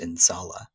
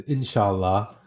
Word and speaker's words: inshallah: I believe it's pronounced insala. Um, what does that word mean, and why is that word so important to you? yeah. It's inshallah, and it's an Arabic